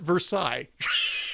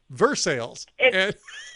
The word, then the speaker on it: Versailles: lot more interesting and it's not Versailles it's Versailles it's Rick sales um so there's a